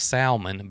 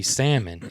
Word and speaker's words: salmon: we pronounce something and the latest one was salman because we put the l in it and it's supposed to be salmon it's what you know